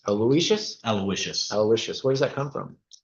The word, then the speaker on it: Aloysius: Aloysius. Aloysius?